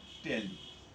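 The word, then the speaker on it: tally: শ্রেণী ব্যবধান, কি টেলি, কেউ আমরা উচ্চারণে টালি বলি, টালি সাধারণত আমরা বলি, আবার কেউ শুনেছি যে টেলি বলে। তো আমরা সচরাচর যেটা শুনে থাকি সেটা টালি শুনে থাকি।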